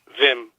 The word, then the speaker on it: Wim: Wim, W-I-M in Dutch, is pronounced Wim.